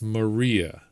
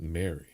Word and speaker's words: Maria: that because because of that one line it's Maria not Mary uh tavic wins by default I'm just